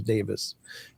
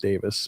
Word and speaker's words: Davies: I I was um I was I I've met Adam Davies who's been up there or Adam Davis. It's actually pronounced Davis, but uh looks like Davies, but um uh Stephen Major H had this group.